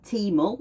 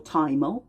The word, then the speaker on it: thymol: lungs, and those are thymol or thymol, depending on how you say it, and geraniol.